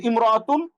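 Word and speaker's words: امرأة: সেটা হল ইমরাত শব্দের আগে অন্য শব্দ যদি আসে তাইলে আলিফটি শুধু লেখা আসে উচ্চারণে আসে না। যেমন ইয়ামতুন সে একজন মহিলা। আগের যেই হরফটার সাথে মিমটা আটকে যায়। আলিফটা পড়ে যায়। কিন্তু আলাদা যদি ব্যবহার হয় তাহলে ইমরতুন এটা আলাদা করে উচ্চারিত হবে হামজাটা।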